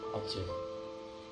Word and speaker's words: aja: Sebagai contoh begini, umpamanya kata uju, ya, tulisannya aja, kemudian membacanya ojo.